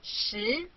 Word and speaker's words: 十: This is its syllable, shi. Repeat after me, shi.